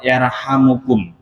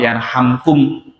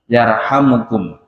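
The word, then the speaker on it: يرحمكم: Dadi sing luwih utama membacanya adalah lafad yarhamukum. Ya ora kok yarhamkum yarhamukum.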